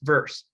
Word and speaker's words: VRS: variation representation specification or vrs pronounced verse this is the first